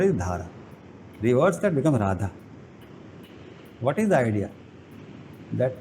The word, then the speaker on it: Radha: So to come back to the Krishna and Radha example, the word Radha, if you see, it is opposite of Dhara. The Dhara, reverse that becomes Radha. Put the first syllable second syllable first, then the word changes.